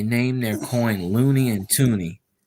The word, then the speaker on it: toonie: loon on it the toonie is is called a toonie because uh it is two for two dollars and it was it rhymes with looney so looney tutuni that's